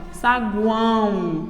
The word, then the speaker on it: saguão: tem um tritongo nasal quando eu falo eu pronuncio desta forma olha saguão e o meu ó tem som de u por isso ele também